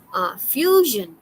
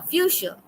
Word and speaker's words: fuchsia: Okay, fusion. You see this one is pronounced as fusion. Oh, fuchsia.